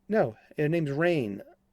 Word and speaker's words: Rahne: Is it Rahane? Is it Rain? Is it? It's like, no, her name's Rain. Like Moon Unit Zappa, her name's Rain.